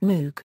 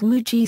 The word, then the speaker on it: Moog: It rhymes with Vogue. That is the usual German pronunciation. My father's grandfather came from Marburg, Germany. I like the way that pronunciation sounds better than the way the cow's Moogie sounds.